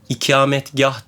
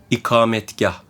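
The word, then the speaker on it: ikametgâh: etmek lazım bir de İçimde kalmasın ikametgah değil ikametgah namazdaki kamet getirmek aynısı ikametgah doğrusu bu yanlış gibi duyuluyor değil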